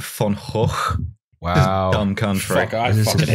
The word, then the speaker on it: van Gogh: class did you know the Dutch pronounced it fun hole Wow um come for